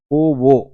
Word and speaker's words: Foveaux: पोवो उच्चारण इसका ऐसा होता है, इसकी स्पेलिंग अगर आप देखेंगे FOVEAUX है।